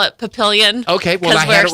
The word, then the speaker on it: Papillion: How did you pronounce that? Papillion.